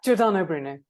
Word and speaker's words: Giordano Bruno: Yeah, Giordano Bruno.